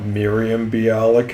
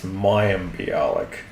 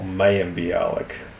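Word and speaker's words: Mayim Bialik: It's not Miriam Balik. It's Mayik or Mayalik.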